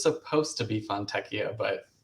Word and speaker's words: Fontechia: It's Fontechia.